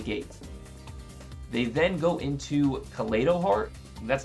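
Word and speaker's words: Kaleido-Heart: omni in the gate they then go into collado heart that's how it's pronounced and they shuffle my Eternal Soul Back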